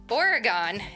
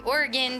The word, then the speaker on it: Oregon: to figure that out I also grew up saying Oregon and we used to play the Oregon Trail in school so if you know you know it's actually Oregon turns out but I'm going to